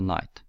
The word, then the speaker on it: knight: spelled with a k known as the silent K but the K is already used as a symbol for the King which is why we use a n for the night I'll show you a